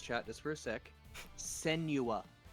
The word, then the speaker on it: Senua: Senua. Not Sinua, Senua.